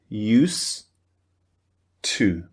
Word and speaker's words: used to: dirt the D sound at the end of used so it just sounds like used to use two can you hear that